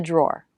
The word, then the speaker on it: drawer: In the drawer. Keep in the short and drawer, longer and clearer.